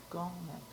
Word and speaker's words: Golnick: Golnick. How do you spell that?